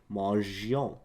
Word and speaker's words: mangeons: You want to keep the E because this way it would sound like mangeons, mangeons.